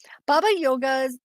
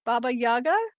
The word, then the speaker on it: Baba Yaga: Baba Yoga, sorry, I said that wrong. Baba Yaga, is that Mhm, how you say it?